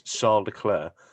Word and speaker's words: Leclerc: understand that he says he says my name is charles leclerc it's not the way you pronounce it where he's from is charles claire but he's just he's